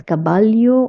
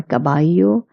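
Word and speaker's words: caballo: The most important things you have to look at is the double L in El Cabayo. You have to pronounce it as cababalo or cababayo.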